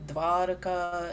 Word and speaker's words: Dwaraka: We should actually be saying Dwaraka and Ishvara. Yeah, what you are saying is, because in English, I was reading that point even, especially the non-Indian, devotees, when they try pronouncing va, so it comes out like this, the pronunciation of W. And that is a little different from the va sound, the actual va sound.